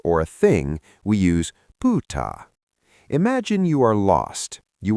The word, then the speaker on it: pyytää: If you're asking for a favor or a thing, we use pa.